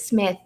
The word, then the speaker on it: Psmith: It's probably one of my favorite, if not the favorite, Wodehouse, just because Smith, the P is silent, as in shrimp, Pshrimp.